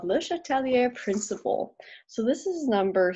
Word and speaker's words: Le Chatelier: so this is number 37 and 38 now Letelier was a french scientist and it makes me cringe whenever I hear people pronounce it wrong my french ancestors get deeply offended that Leisha Tellier okay da da but he came up with